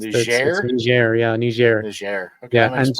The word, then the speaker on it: Niger: State Department in 5 African nations, including as a general service officer in Niger. Now, this is a country called Niger, and it's spelled Niger, and it's pronounced Niger.